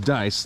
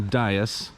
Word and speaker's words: Dyess: And by the way, this town's name is pronounced Dyess, like roll the dice, or paradise, I guess, not Dyess.